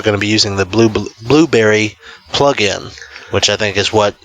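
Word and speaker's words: Blubrry: I think you actually pronounce it blueberry.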